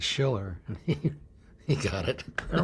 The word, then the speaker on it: Schiller: And for the first 6 months, Desi never could say my name right. Called me Bob Fisher. So one night we got the cards like they have at football games, and held it up. It said Schiller, and he got it.